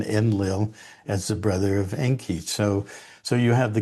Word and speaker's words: Enki: And it goes from the Sumerian where Enki um was supposedly the well Enki in the Sumerian um salaby um has two syllables N and key.